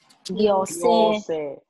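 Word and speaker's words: 行政: Chữ này bình thường đọc là cô đúng không? Trong từ này không đọc là cô đâu nhá. Nó đọc khác gì ạ? Đọc là gyo. Gyose.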